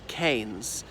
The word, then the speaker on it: Keynes: by his nephew and he said it is canes and they've been disturbing